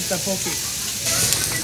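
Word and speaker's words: 떡볶이: Tteokbokki.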